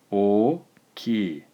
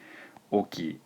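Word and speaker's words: 大きい: o ki oke Oke notice that if we were just to pronounced these two characters in the centre remember each one is a syllable so it would just be okey okey okey we Pat it out on either side with these extra vowels and it ends up being o ki if you want to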